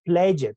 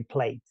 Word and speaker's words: played: Nunca digo, I pledge it. No, I played.